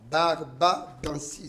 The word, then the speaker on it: Barbadensis: Mais ce gel, vous avez dit qu'il est récupéré dans l'aloe vera Barbadandis. Barbadensis. Ok, le mot est un peu difficile à le prononcer, mais vous venez de dire tout à l'heure que l'aloe vera du Congo était plus efficace.